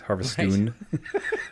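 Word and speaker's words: Harviestoun: ale from Harveststoun and that's spelt with a Toun at the end. So I think it's almost forcing you to say the Scottish accent. Harvestoon Brewery. Yeah.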